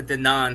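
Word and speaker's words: Denaun: How do you pronounce his name? Denon Porter, Mr.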